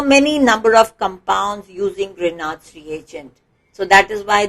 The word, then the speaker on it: Grignard: As I said, Grignard's reagent, yes, the G is silent over here.